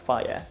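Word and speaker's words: Fage: Greek yogurt uh f it says on the side it's pronounced fire okay there you go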